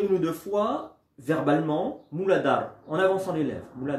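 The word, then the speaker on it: Muladhara: je vais inspiré et je vais prononcer pas moubadara mais mou lada et je vais entendre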